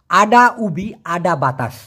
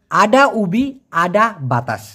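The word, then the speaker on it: ada ubi ada batas: এটার সঠিক উচ্চারণ হবে আডা উবি আডা বাতাস। আমি আবার বলছি আডা উবি আডা বাতাস।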